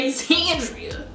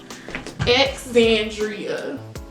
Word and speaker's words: Alexandria: ask me my name I say Alexandria it's really not that hard X then I'll put the I think it's called acronym of how to say it Alexandria let me let me make sure this camera is on before I tell y'all x Andrea and every time I